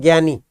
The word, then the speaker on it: ज्ञानी: देखो कादे में तो ज्ञानी बन रहा, लेकिन हम बोलते हैं ज्ञानी, गे बोल रहे हैं नहीं?